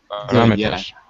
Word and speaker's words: parameters: to another one mhm be careful the pronunciation parameters okay parameters parameters yeah parameters I guess it's parameters parameters parameters second syllable yeah that's it very